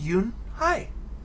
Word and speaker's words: Unhei: joey she nodded slowly yes it's pronounced yoon hi and it means grace mr kim added you